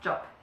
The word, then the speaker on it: Job: happens as well so whenever there is a b at the end of a German word it's pronounced like a p okay so it's de job that's joint venture that's